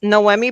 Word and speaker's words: Noemi: I came up with a creative way to say my name. I'm actually I say that I'm not an actress, but my name is like no Emmy awards. So unfortunately, I will never get an Emmy. But that's that's the best way to sort of pronounce my name.